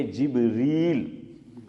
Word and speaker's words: جبریل: جو ہے صحیح ہے۔ جبرائیل اگر کوئی بولے وہ بھی صحیح ہے، عام طور پہ ہم تلفظ اسماعیل بھائی کیا کرتے ہیں؟ جبرائیل، لیکن بعض لوگ بولتے ہیں جبریل، تو امک لوگوں کا